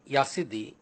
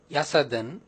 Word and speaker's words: Yazidi: I would start with the very name Yazidi. It is pronounced variedly as Yazidi, Yasadan, Yazidi. The original spelling and pronunciation was Ya plus Siddhi, Yazidi, Yazidi.